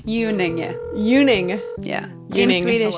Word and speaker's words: Unenge: It's Unenge.